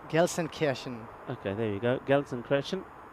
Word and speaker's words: Gelsenkirchen: And what's the other one? Glishenkirchen? Well, that's Gelsenkirchen.